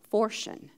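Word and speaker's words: φορτίον: you it's p-h-o-r t-i-o-n so it would be pronounced Fortune p h o r t i o n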